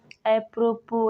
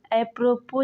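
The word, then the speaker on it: apropos: है अगला वर्ड है अप्रोपो इसके कोई रूल नियम नहीं है इसको अप्रोपो ज नहीं अप्रोपो पढ़ते हैं अगला वर्ड है डबरी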